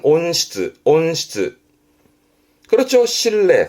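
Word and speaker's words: 温室: 발음은 온시츠, 온시츠.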